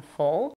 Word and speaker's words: full: We have the laxed U in full and the tense U in fool.